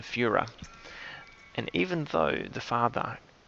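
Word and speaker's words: Führer: mispronounced it um and calling him the fury rather than the fuhrer and even though the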